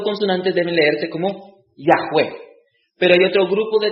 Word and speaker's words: Yahweh: Ahora, los teólogos hoy en día creen que Yahweh es la verdadera pronunciación del nombre de Dios. Yahweh. Dice que estas 4 consonantes deben leerse como Yahweh.